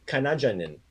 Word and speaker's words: Kanađanin: the alphabet yet, but we have a character in there that there's a D with a line through it, which makes a DZ sound like a J, like jump.